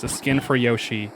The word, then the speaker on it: Yoshi: So I watched this UK streamer and I found out that he pronounces it Yashi instead of Yoshi.